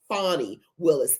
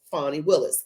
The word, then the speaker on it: Fani Willis: recap on Fanny Peg Willis her name is fonnie Willis and it actually is pronounced fonnie Willis she was the one that's going out after